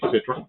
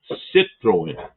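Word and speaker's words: Citroën: Citroen. Citroen. I don't know where the Right that so I got the accent on the right syllable. Second syllable.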